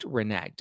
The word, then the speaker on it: reneged: little weight and um reneged oh got it rhymes with egged reneged okay that there thank